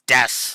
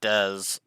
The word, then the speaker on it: Des: Des shinta is uh I always mispronounce that and I apologize I've been getting that name wrong it's Des not Dez G sorry but anyway